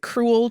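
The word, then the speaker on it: crewel: The word cruel to describe this type of yarn which is spelled c r e w l not cruel like being mean uh is derived from the Welsh word for wool which is cru.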